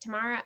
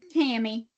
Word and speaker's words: Tammy: Is it Tamara? I don't want to say it wrong. Tammy, just Tammy.